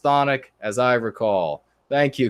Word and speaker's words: chthonic: so I have been vindicated everybody who says cathodic it's time to stop it is pronounced chthonic as I recall thank you good sir vindication